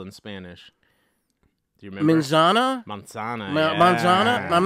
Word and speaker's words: manzana: not pronouncing it correctly monzana monzana yeah you don't go like yeah you're doing the you're doing like the Z and we don't they don't necessarily Z as much as us it's almost a little